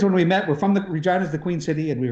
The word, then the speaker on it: Regina: I love that we somehow found a way to pronounce it Regina though, and not Regina.